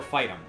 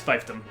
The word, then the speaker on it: fiefdom: Is it pronounced fiefdom or fightum? It's fiefdom. It's fiefdom, okay.